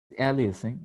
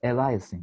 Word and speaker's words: aliasing: think what you say is correct but the pronunciation uh in the correct ways is aliasing actually but yes what you mean is yeah we were calling it aliasing or eliasing as many turks say somehow i don't know